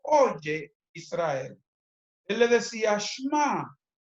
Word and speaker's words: Shema: Shema se escribe S-H-E-M-A. Y esa palabra Shema, también algunos judíos la pronuncian como Shema.